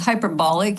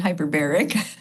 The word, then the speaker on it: hyperbaric: First always make sure you say it right because hyperbolic is way different than hyperbaric.